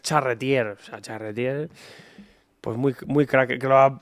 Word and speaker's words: Charretier: nervos el ch pero luego le pronuncio en FR porque es charretier sea charretier pues muy